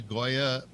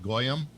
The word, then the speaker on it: Goya: Hey, can you imagine if he mispronounced the Goya product name and called it Goyam?